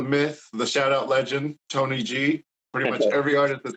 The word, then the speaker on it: TNYG: Tony G right so the pronoun it is pronounced Tony G just to clear up the rumors there was